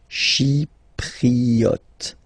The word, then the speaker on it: chypriote: She, remember this Y is pronounced like I, okay? Chypriote.